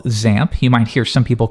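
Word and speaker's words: XAMPP: at something we call zamp you might hear some people call it xamp either one really works there's no official pronunciation but most people do zamp and you'll see actually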